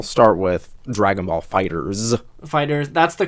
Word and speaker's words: FighterZ: about uh I'll start with Dragon Ball fighters fighters that's the correct pronunciation of it we found out I mean